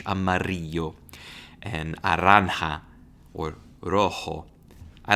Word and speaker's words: amarillo: I really loved pronouncing that double L in Spanish, amarillo, and naranja, or rojo.